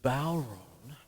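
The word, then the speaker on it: bodhrán: um i have the bow run it's spelt like badran might and what you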